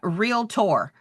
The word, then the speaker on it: Realtor: The term realtor. Realtor. Y'all, it's got 2 syllables.